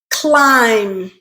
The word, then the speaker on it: climb: end pull becomes pulled climb becomes climbed okay now pay attention to that it ends with the with the letter B but that letter B is silent okay so in terms